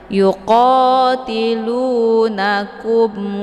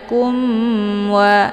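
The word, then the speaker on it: يُقَاتِلُونَكُمْ: Cukup ditekan saja langsung masuk ke wa, tidak perlu ditahan ya. Yuqatilunakum wa, jadi jangan kumwa ya, itu bacaan yang salah.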